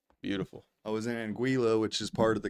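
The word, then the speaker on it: Anguilla: Chad sty I don't are the L's silent no one knows she says she said that they're not silent the West Indies actually in anguila beautiful I was in anguila which is part of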